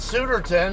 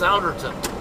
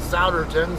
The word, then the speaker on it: Souderton: over here in Souderton I originally called it Suitor 10 and then my good buddy uh Antonio Anthony by Ant-Man Griffo um who lives over here in New Jersey he told me that it's uh it's pronounced Souderton so or at least that's how the people